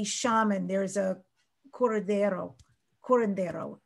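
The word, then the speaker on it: curandero: there is a corridero corondero is how you say it there's somebody who is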